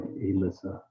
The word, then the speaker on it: Aylissa: And also her first name is spelled AYLISSA. So it's like Alyssa.